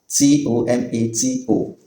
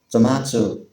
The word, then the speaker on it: tomato: And the last but not the least, t o m a t o. Brits pronounce it as tomato. Tomato while Americans pronounce it as tomato.